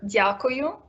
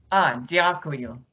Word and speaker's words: Дякую: Дякую. Дякую.